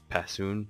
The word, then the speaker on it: Passoon: This is Passoon, is how I'm gonna pronounce it. It's Latin for Stridden, sort of. Passu, right there, that means stride.